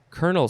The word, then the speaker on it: colonel: title and how do you say this word kernel c kernel c is a noun um it